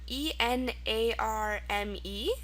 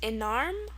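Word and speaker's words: enarme: Okay, word number 3 is another good one, French one, E-N-A-R-M-E. Now this is pronounced enarm or enarm.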